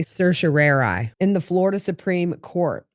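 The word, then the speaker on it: certiorari: petition for writ of this word is pronounced two different ways and I'm going to say Sir Sheri in the Florida Supreme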